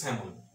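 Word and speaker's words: salmon: এম, এর উচ্চারণ দেখি, এর উচ্চারণ কিন্তু স্যামন, স্যামন, এই এলটা কিন্তু সাইলেন্ট, এরকম একটা ওয়ার্ড পেয়েছে,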